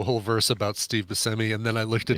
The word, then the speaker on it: Buscemi: whole verse about Steve Buscemi, and then I looked at his Wikipedia page, and one of the first, like it's in his intro thing, it says pronounced Buscemi.